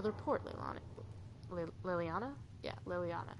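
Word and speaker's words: Leliana: report Lil Liliana yeah Liliana is how you say that I'm going to mess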